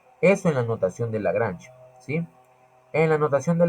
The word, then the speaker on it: Lagrange: Se escribe Lagrange, pero se pronuncia Lagrange, ¿sí?